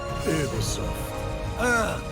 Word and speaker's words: Ubisoft: It is actually pronounced Ubisoft. The French.